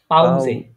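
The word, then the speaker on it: Pause: এটা এটার উচ্চারণ কি হবে বলেন তো প্রোনাউন্সিয়েশনটা পাউজে পাউসে হ্যাঁ এস উচ্চারণ করবেন এটা জের উচ্চারণ করবেন পাউজে পাউজে পাউজে পাউজে মানে হচ্ছে ব্রেক ব্রেক মানে হচ্ছে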